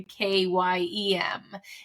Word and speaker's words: Caim: say it's um written C A IIM and pronounced more of like a k yeem it's a gelic a Scottish gelic word um